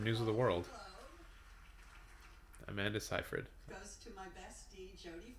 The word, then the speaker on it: Seyfried: Amanda Seyfried, not Siegfried, pardon me. I don't know how to pronounce her name, but she's from News of the World. Amanda Seyfried.